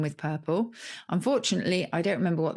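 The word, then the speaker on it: curple: i remember when caesar revealed which word does rhyme with purple unfortunately i don't remember what that word was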